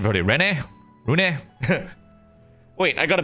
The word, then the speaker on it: Renne: I'll just stick with Renne. But they pronounce it as Rune, so...